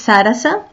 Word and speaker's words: Saras: My name is Sarasa. It's written Saras, but it's pronounced with a little a at the end, Sarasa.